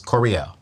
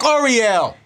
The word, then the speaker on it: Koreeyell: And her name is Koreeyell. Did I say it right? You said it right. I said it right. You did that. Koreeyell.